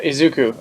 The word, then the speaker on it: Izuku: Yeah, Izuku. Okay, okay. So his I name.